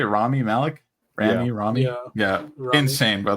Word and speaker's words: Rami Malek: Rami Malek?